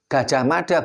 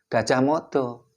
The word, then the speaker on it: Gajah Mada: Bacanya Jayabaya bukan Joyoboyo. Kertanegara bukan Kertonegoro. Gajah Mada bukan Gajah Modo.